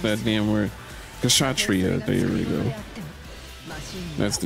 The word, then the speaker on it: Kshatriya: Not Keyblade, the Kishatsu Risha? How would you pronounce that damn word? Kshatriya, there we go.